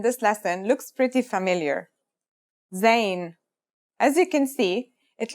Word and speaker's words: Zayn: a DOT on top in terms of pronunciation you say just like the English Z as in zebra or Al Jazeera practice saying Al Jazeera